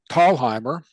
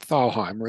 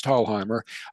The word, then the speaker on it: Thalheimer: On June 4th, Will Thalheimer, that's the correct pronunciation, not Thalheimer, it's Thalheimer.